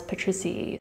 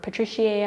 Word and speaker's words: patriciae: Thomas Crote pronounce this as Patriciae, just like Araceae. However, some of us say Araceae or Patriciae. I've also heard it pronounced Patriciae.